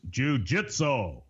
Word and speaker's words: jujitsu: of all in the King's English the correct pronunciation of that word is jujitsu mixed martial arts so I'm sure that was